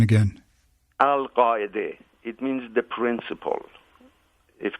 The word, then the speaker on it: Al-Qaeda: branch called Al-Qaeda, or as you pronounce it, Al-Qaeda. It's funny, we've had 4 presidents in the White House and not one has been able to pronounce the name properly. And give us the proper pronunciation again. Al-Qaeda.